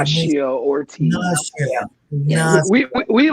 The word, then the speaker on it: Ignacio: Ignacio.